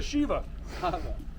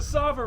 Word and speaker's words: Sava: no there some laps across the shiva what sava all right yeah i've said it wrong this entire time we've been filming it's the sava river tune in next week